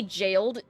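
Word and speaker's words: gaol: Every now and then, I see jailed spelled like G A O L, like an Elden Ring, and it throws me for a loop cuz I'm like, "Oh, yeah, that's pronounced like jail." Like old school jail.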